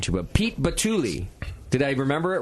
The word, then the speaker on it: Pete Batule: to um oh man I just asked a pronunciation to but Pete batuli did I remember it right Pete you got it yes Pete batuli and Matt wisley are on the program with